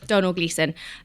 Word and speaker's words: Domhnall Gleeson: is played by I don't know how to pronounce his name actually Don domal gleon Donal Donal yeah Donal gleon um and he's just a brilliant character and